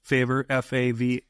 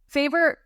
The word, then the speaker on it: FAVR: That's the common acronym out there is favr, FAVR, correct? You got it. FAVR. Okay. That's the most common acronym. Okay. So yeah. I'm glad you pronounced it as favor instead of fav or favra, or, for all you Packer fans out there.